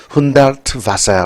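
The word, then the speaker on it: Hundertwasser: 훈데르트, 이거 V 발음입니다. 바세르. 훈데르트 바세르 하우스.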